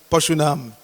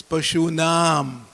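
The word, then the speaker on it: पशूनाम्: We must pronounce the long A's long. When you see the diacritic over the A, it's a long A. So it's not Pashunam, it's Pashunam.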